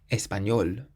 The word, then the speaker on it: español: The next word ends in an L, so that means we have to emphasize the last syllable, español, español, which means Spanish.